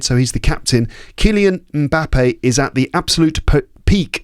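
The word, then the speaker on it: Mbappé: Now, everyone says Mbappe, but I think his name is actually pronounced Mbappe.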